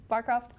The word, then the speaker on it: Barcroft: Today I have Genie Barcroft.